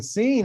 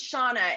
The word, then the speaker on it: Seanne: you very much adam seen how are you it's it's shawna it's gaelic it's unfanatic it's not